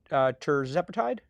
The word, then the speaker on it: tirzepatide: The FDA is to allow compounders to sell tirzepatide. Tirzepatide is how it's pronounced.